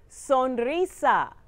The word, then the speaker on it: sonrisa: Repeat after me and you don't have to roll the R. Sonrisa.